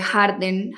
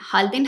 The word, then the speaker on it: Halden: documentales que lo muestran, es la prisión de Harden. Halden. Halden, me excusan ahí en la pronunciación de Noruega.